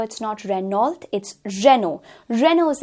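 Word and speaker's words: Renault: starting on with the first, यहाँ पर हम लोग काफ़ी बार इसे रेनॉल्ट बोलते हैं, लेकिन एक्चुअली में इस कार ब्रांड की प्रोनाउंसिएशन है रेनो।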